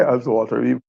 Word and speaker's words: Ullswater: I say Oswater. We might pronounce it.